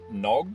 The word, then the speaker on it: Knog: this company is called I think it's pronounced nog with a silent K but it's k in